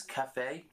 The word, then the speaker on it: cafe: It's cafe. That will haunt me if you don't pronounce it right. Oh, wait, what did I say? Wait, calf. Cat, yeah, people call it the calf. It's fucking calf. Wrong. Wrong!